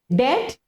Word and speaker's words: debt: And then debt, when somebody owes you something, you have to give some, and B is silent again, okay.